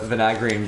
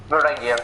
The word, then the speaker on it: Varangian: sort of like a Vanagrian guard dealio. Ooh. Or Vanagarian. I've never known how to spell that one. Varangian. Oh, Varangian. That sounds better. That sounds correct.